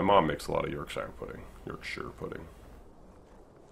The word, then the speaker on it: Yorkshire: Yorkshire is pronounced as Yorkshire, not Yorkshire.